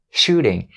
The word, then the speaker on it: shooting: Shooting. We turn the T sound into a flap D sound and we have shooting instead of shooting.